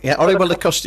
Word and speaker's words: Orihuela Costa: Is that Aurelio Costa? Aurelio Costa, you call it. That's right. It's difficult to pronounce.